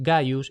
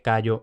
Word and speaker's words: Gaius: El símbolo conservó su antiguo valor solo cuando, como letra inicial, representaba los nombres Gaius y Gnaius, que en consecuencia a menudo se escriben y se pronuncian erróneamente Cayo Gneo.